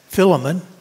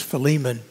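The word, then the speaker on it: Philemon: Philip fiman and um some of you may uh have pronounced that filon but it actually the Greek is fiman and but uh anyhow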